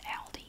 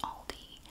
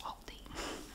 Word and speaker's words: Aldi: tab now I know in some countries you pronounce it Aldi I know but in the USA it is pronounced Aldi I did confirm it with the company that in America it's pronounced Aldi every now and then someone has to it